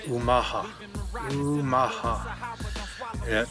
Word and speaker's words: Omaha: Omaha is named after the Omaha tribe correct pronunciation is Omaha Omaha people against the current and um you know